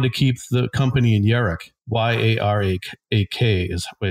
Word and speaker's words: Yarak: And then there's another thing in the book that he mentions, that he wanted to keep the company in Yarak. Y-A-R-A-K is the way it's spelled.